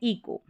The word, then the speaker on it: eco: बड़ी बड़ी स्पेलिंग्स है, इसको आप इको करके पढ़ेंगे। ECO, ये जो स्पेलिंग पैटर्न, इसका उच्चारण है इको।